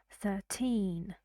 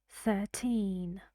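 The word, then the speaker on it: thirteen: and you know in British English here this R is silent so you say 13. sir 13.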